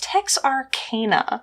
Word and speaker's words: Texarkana: be saying it Tex Arana but no it's Tex Arana so anyway yeah today's case well it is